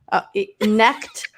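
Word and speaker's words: Knecht: No, you don't pronounce the K. Necked.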